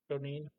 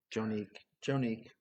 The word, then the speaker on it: Jonique: Jonine. Jonine. Jonique. Jonique? Like unique? It's almost like Okay. Monique, but with a J.